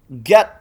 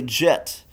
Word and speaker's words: Git: Get text, Gedracript, ghost script, get I know some of you will say Jit and that is the preferred pronunciation according to the maintainers of and according to Jitub they say Jit just like Moyang or whatnot. But in a lot of the industry we say get kind of a shibth of sorts.